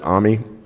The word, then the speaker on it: AMI: AMI, or I've also heard the Amazon guys pronounce it AMI, is their virtual appliance container format.